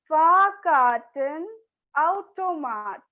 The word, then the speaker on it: Fahrkartenautomat: I know it's a big word, so just break it down and pronounce Fahrkartenautomat. Automat nahi, automat. AU sounds like ow, remember. Fahrkartenautomat.